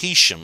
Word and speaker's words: Heysham: Makes no difference, but Heysham is actually pronounced Heysham. Oh, right, Heysham.